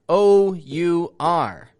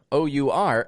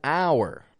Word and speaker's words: our: You see, the words R, A-R-E, and another kind of R, O-U-R, have the same pronunciation, R, R. A very common mix-up that I'll notice is people will pronounce the word R, O-U-R, as hour.